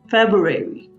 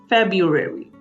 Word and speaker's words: February: the word February now we don't pronounce the r in this word at all February you might sound it as Fabio here e February February so now there